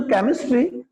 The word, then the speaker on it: chemistry: तो जो केमिस्ट्री, क, CH इज क.